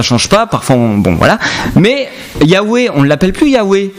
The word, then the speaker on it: Yahweh: Si c'est le nom de Dieu qui compte, si c'est son vrai nom, c'est pas Jéhovah, c'est Yahweh.